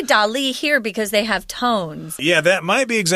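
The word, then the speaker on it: Dalí: one such famous person was the artist Salvador Dolly who designed their brightly colored daisy-shaped logo I think sometimes people say Dolly I say Dolly I think most people say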